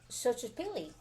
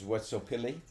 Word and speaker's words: Xochipilli: Well, I mean, because if you think about it, like, now he is Xochipilli. Xochipilli. Social. Exo is pronounced social.